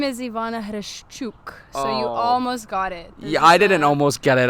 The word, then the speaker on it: Hreshchuk: gonna mess up pronunciation of your last name Hirsch Chuck very close introduce yourself hello world my name is Ivana who shook I didn't almost get it I butchered a you see your sounded way better